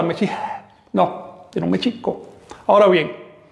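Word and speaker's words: Mēxihco: Ahora bien, el acento recae sobre la I, Mexico, porque todas las palabras del náhuatl son graves o llanas, es decir, se acentúan, todas las palabras de dos sílabas o más, se acentúan en la penúltima sílaba.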